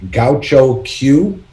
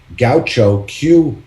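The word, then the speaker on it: Gahcho Kué: in the world which is i hope i'm pronouncing it right gaucho q um it's g a h c h o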